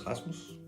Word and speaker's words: Rasmus: Um my name is Rasmus. Uh it's probably not pronounced like that if you are English speaking natively. It's going to be uh a uh a Rasmus.